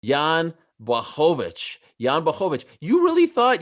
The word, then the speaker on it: Blachowicz: It's time to start pronouncing it the correct way. Yeah, Blachowicz.